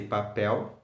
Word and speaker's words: pastel: don't I say Papa when I say Papa I say pastel because there is an L from the word Lucy at the end of the world why don't I say